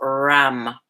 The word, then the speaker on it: Ram: The third chakra, the sound is Ram, R-A-M.